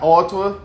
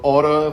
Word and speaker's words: Ottawa: Ottawa, né, na pronúncia britânica, ela falou Ottawa, pronúncia americana, mas eu não tinha ideia de que eu estaria morando aqui hoje.